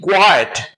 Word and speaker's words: quiet: is very common so q i e t quiet should rhyme with diet as you pronounce diet so you pronounce quiet then there will be